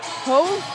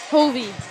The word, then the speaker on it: Hove: So there'll be a service air on number 4, Kennedy Hove, or how do you say it, Jeff? Hovey. All right.